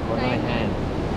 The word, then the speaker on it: Nai Harn: Nai Harn.